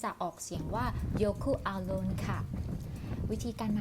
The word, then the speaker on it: Jökulsárlón: อังกฤษ แรง จริง ๆ จะ ออก เสียง ว่า youku Alone ค่ะ วิธี การ มา ก็ ง่าย มาก เลย